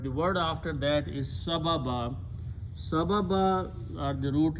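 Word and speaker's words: سبباً: So again the word became sababan. When you stop, you pronounce sababa.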